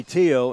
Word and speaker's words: Theo: And Theo, they say Tio in Swedish.